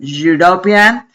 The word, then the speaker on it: European: Esa e de europeo me suena como e e perdón European a European person.